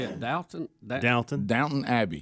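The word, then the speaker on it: Downton: you say it dton downt downt Abby it's d o w n t o n down there's just no Town T you're say down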